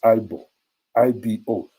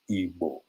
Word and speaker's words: Igbo: That when the white man came, some mistakenly referred to them as IBO. Some, if you read the Echo and Nos book, it refers to them as Ebo, EBO. Whether Ebo, but now the pronunciations, the writings, everything is being corrected, and they are Ndi Igbo, a people of Igbo.